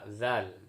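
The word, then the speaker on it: ذ: Di sini bagaimana pengucapan zal ya, zal yadzakkaru. Kalau zai sebelumnya itu ditekankan keras, za, kemudian di sini za, ujung lidah dengan ujung gigi. Lemas, elastis, ya lemas ya, tidak seperti zai yang ditekankan kemudian ada di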